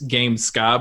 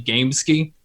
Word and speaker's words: Gamesky: A lot of people think that it's Gamesky because it's spelled that way, but it's actually Gamesky, which again, I'll try